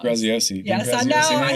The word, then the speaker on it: Graziosi: And I was sitting with a group of publishers, and they had Dean Graziato. I always say his name wrong. Graziosi.